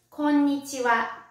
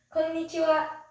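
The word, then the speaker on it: こんにちは: how to say hello hello in japanese it's konnichiwa konichiwa next is good evening good evening in japanese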